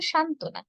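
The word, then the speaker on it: সান্ত্বনা: যেমন উদ্বিগ্ন উদ্বোধন উদ্বেগ আবার যুক্ত ব্যঞ্জনের সঙ্গে যদি ব যুক্ত হয় তাহলে আমরা ব এর উচ্চারণ করবো না যেমন ধরুন পরবর্তী স্লাইডে রয়েছে সান্তনা সান্তনা শব্দটিতে কি নত সংযুক্ত আছে তার উপর আবার এসে যুক্ত হয়েছে।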